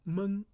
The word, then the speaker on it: 闷: Now this one has a second pronunciation called 闷. Now when you say 闷, so that means it's not ventilated and it's stuffy, stifling, and air is closed, called 闷.